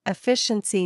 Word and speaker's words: efficiency: In simple words, efficiency means doing things in a smart way, not a hard way. Pronunciation efficiency. Break it into parts. E FI C N SI. The stress is on FI.